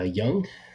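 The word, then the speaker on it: Jung: seventh inning here uh young j-u-n-g is how you pronounce it Young just continuing to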